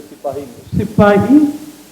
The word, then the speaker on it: Sipahi: the so-called Sepoy mutiny, it was really a Sipahi, and it was much more than a mutiny. The British called it Sepoy. The British were as murderous in their pronunciation as they were with people.